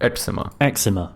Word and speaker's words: eczema: Ema eczema.